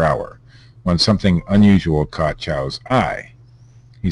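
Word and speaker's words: Chiao: Leroy Chow, I believe that's how it's pronounced.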